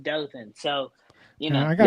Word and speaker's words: Dothan: It's pronounced Dothan.